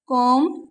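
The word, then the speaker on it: comb: अगर किसी वर्ड में बी एम के बाद आता है तो बी साइलेंट होता है।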